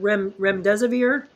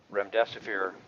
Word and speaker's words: remdesivir: Terry, I think I don't know how you pronounce this. Was it remdesivir?